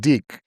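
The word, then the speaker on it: Diq: Oh, D-I-Q. I think that's pronounced Deek. Okay.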